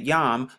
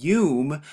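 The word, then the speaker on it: יוֹם: h3117 and the word here that's used they pronounce it yam but the correct pronunciation is um which means day as you can see right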